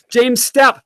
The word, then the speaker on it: James Stoup: And in this stream, I'm really proud to tell you that I got James Stoup.